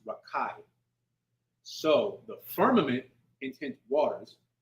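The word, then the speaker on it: רקיע: so a firmament which in the Hebrew I believe is pronounced rakai so the firmament intent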